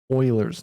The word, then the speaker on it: Euler: compounds daily or minutely these are approaching e euler's number okay so that's what euler's number is